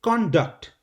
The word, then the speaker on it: conduct: For example, when you talk about behavior, you say conduct. Conduct, the first part is stressed.